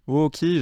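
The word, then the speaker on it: おおき: Ooki, j'en avais un petit peu parlé dans le cours sur la prononciation, où je vous avais dit que effectivement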